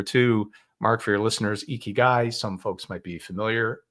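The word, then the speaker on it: ikigai: Mark for your listeners eeky guy some folks might be familiar pronounced eeky guy like e a key and a guy spelled i k i g a i and yes uh the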